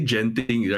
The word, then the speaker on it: Genting: Singaporeans say genting, right? Genting. Genting. You know why or not? Because right, our toilet sign says ladies and gents. You have to recognize, right? You guys don't pronounce it. You guys don't even pronounce it as the same way you say gentleman. It's it's it's it's very heavy on the J.